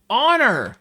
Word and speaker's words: honor: Honor! Yeah. I kept thinking ower, something ower. But it's honor with a silent H.